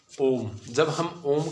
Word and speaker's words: ओम: जो ओ है इस पर रुक कर, ठीक है, कुछ समय लगाना पड़ता है। जैसे ओम, ठीक है, जब हम इसका उच्चारण कर रहे हैं तो हमें एक शब्द पर ओ है उस पर रुकना होता है, ठीक है, कोई भी है।